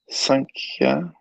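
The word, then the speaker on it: Sāṅkhya: So in the word by word, Sankhya. Okay, so in the Sanskrit Devanagari, it's a long A in the first syllable.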